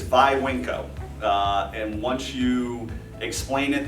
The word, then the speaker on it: Viwinco: be in the business always people pronounce oh my gosh then wink oh the Vinnie winco's then COEs winco's there's so many different ways the proper way is by wink oh and once you explain